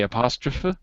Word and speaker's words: apostrophe: isn't it you say apostrophe apost okay so in English it's apostrophe we say the with the the E like an e okay so um who